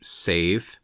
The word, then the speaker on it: seiðr: much of this book sather would have been pronounced approximately sa rhyming with the Modern English swath but with a slightly inflected R sound at the end in the nominative form